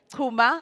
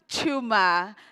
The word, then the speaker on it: Chuma: Tuma, am I saying it right? Chuma. Chuma is an entrepreneur and a coach on self-worth.